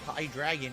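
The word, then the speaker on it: Hydreigon: evolution is high hydrogon high dragon is the pronunciation got it Hydra gun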